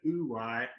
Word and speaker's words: wu wei: bit more that concept woo why w-u-w-e-i you're actually meant to say it ooh why but you know uh us white people can mispronounce things willfully at any point um emily can we